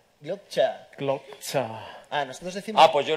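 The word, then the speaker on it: Sand dan Glokta: I say Sandan Glokta. Glokta.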